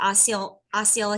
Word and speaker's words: Osceola: And in that year alone, I think Osceola County, is that how you say it? Osceola?